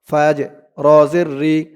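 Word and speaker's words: فجر: ফা জিম জবর ফাজে এই জিমটা কলকলার হরফ ধাক্কা দিয়ে পড়তে হবে ফাজে রজের ফাজর ফাজরফ করার কারণে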